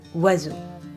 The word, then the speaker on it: oiseau: Not only are some letters not pronounced, but others are not pronounced like their written form. For instance, the word oiseau.